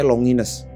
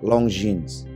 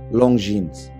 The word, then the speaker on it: Longines: Cuman waktu itu gue ketemu kolektor jam tangan merek ini, bacanya Longines. Sementara seharusnya adalah dibaca Longines. Gua ulang, Longines.